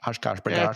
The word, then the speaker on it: Oshkosh: Oshkosh, Yeah, it's called Air Venture, and apparently the